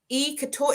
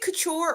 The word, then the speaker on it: couture: Couture. Is it couture or couture? How do you pronounce that? Couture, couture. Couture.